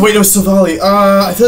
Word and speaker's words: Silvally: Because okay, so to know the origin, you'd have to pronounce it correctly. It's not a strength. Silvally.